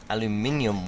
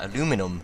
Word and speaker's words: aluminium: So we're going to need some aluminium wire. Now we're going to be using the aluminium ingots from Immersive Engineering. There are aluminum ingots from Galacticraft, but just the same thing, just American and British pronunciations.